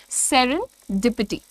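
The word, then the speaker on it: serendipity: सामने clear word है जैसी इसकी स्पेलिंग है बिल्कुल वैसे ही प्रोनाउंस करना है आपको सेरेनडिपिटी ठीक है सेरेनडिपिटी सेरें डिपट डी का साउंड अलग से देना है आपको सेरें पिटी सेरें पिटी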